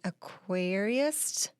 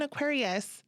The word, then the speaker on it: aquarist: She is an aquarist at the Albuquerque Biopark Aquarium. And when I first saw aquarist, right? Is that how you say it? Yeah, we're like, oh, look, she's an Aquarius.